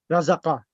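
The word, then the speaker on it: رَزَقَ: That would be razaq. Razaqa. The qaf should have, qaf has all 3-letter verbs. The last letter should have a fatah.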